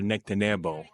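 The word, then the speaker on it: Nectanebo: Different ways of explaining this one is that name is pronounced uh Nectaneo 30th dynasty.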